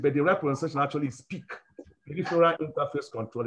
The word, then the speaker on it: PIC: we call it a pic made by microchip but the representation actually is peak peripheral interface control is actually pronounced peak by the manufacturers not pic peak so after they're